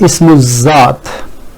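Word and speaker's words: اسم ذات: I have pronounced that Ism Zaat, and the reason for that is this is lam of definiteness, and from here I have gone direct to Zal because Zal is sun letter, and coincidentally Swad is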